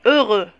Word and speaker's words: heureux: Là aussi, عندنا ال X, لكن ما ننطقوهش. On dit heureux.